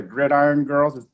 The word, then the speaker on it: Gridiron Girls: She founded the Gridiron Girls. Did I pronounce that right?